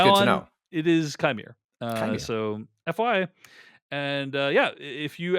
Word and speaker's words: Qimir: That it is actually pronounced Chimere. So okay, wouldn't have guessed that, so I don't feel bad about it. But that's good to know. It is Chimere.